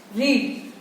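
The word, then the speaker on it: read: रीड की जो pronunciation पास में हो जाती है वो रेड हो जाती है, हम बोलते रेड है बट स्पेलिंग है वो सेम रहती है.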